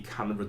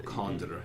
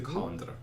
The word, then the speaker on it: Condra: One of the ones is Lady Canberra Dunville. Or Condra, if you're going to pronounce her name correctly, Lady Condra.